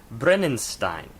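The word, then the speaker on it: Brennisteinn: of two singles on the record and it's pronounced brenen Stein which means Stein which means Brimstone as in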